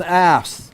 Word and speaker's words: apse: This is an apse, A-P-S-E, that's how you say it.